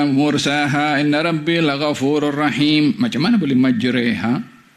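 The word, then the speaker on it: مجراها: inbiurahim macam mana boleh majreha bukan majraha boleh Dibaca majraha juga tapi ada bacaan majreha tulisan majraha majreha sama mim Jim e ro kemudian ha dengan Alif Mad dibacanya majraha dibacanya majreha tulisannya sama sebutannya besok waduha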